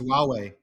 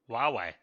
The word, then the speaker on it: Huawei: almost everybody oh you away yeah h-u-w-a-i-i it's pronounced Huawei Huawei I don't know why it's got an H